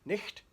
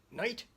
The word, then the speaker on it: night: Night? Nicht? Night? It's got GH. How do you say it? Night.